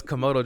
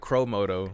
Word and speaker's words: Komodo: what is your favorite animal oh a commodore jack chromoto tomoto yeah is it no it's komodo dragon komodo you said it right the first thing you know i said crow moto oh comodo is the